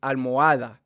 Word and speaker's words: almohada: It's almohada because you don't say the H.